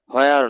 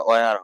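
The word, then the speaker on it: where: ওয়ার মানে কোথায়, হোয়ার নয়, এটা ওয়ার হবে। হোয়ার, আমরা তো সারা জীবন হোয়ার বলেই চলে আসছি স্যার। হ্যাঁ, এটা সাইলেন্ট রাখবেন।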